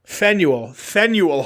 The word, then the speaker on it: Faneuil: Faneuil Hall.